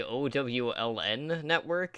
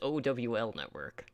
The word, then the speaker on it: OWL Network: I feel like every week you say OWLN Network. It's OWL Network. Oh God, it is. It is an OWL network. Okay, I've been saying it wrong.